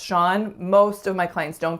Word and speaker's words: Sean: Sean. Now the spelling of this one, unless you know that that's pronounced Sean, most of my clients don't get this. They say seen or seeing or lots of different things, but